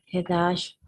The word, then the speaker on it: headache: I have a headache. I should take a nap. Yes. The pronunciation of this is like headache, right? Headache. Ache. This is like Q, right?